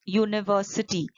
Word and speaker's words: university: look at these examples a university it starts with the vowel letter u what are the vowels a e i o u but the sound is of a consonant it sounds more like y o u therefore you will use